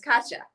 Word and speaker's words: Katja: You did not. It's Katja.